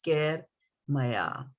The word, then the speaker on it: kair mayā: So when we are pronouncing this verse, it becomes, when we put these two words together, it becomes kair mayā, right?